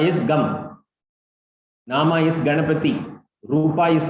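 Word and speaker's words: गं: From today you can start Om Gam Ganapataye Namaha. In certain pronunciation methods, it is Om Gang Ganapataye Namaha.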